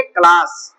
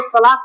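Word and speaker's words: class: देखो सी के बाद क्या आया है, यल, तो क्या पढ़ेंगे, क्लास। इसको सलास नहीं पढ़ेंगे, क्लास।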